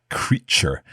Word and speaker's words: creature: pronounced t as in it's pronounced cha like in cheese so we say creature can you give us